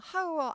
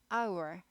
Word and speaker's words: hour: 거당 시간당이죠 hour 시간이에요 시간 h가 묵음이에요 발음이 아예 안나요 하우어 아니고 아워 이렇게 되죠 1시간 1hour 2시간 to